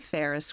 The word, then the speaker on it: Pharus: I'm your host, Ellen Contreras of the Ferris Group, one of our sponsors.